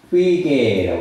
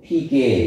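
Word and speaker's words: φυγή: 같아요 도망 도망이라는 말은 헬라어도 휘게라고 합니다 휘게 휘게 또는 뭐 피게 이렇게 발음할 수도 있어요 근데 이게라고 하는데이 필개라는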